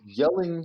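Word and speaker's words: Jelling: certificate of denmark right the yelling stone um that's spelled j-e-l-l-i-n-g uh that was raised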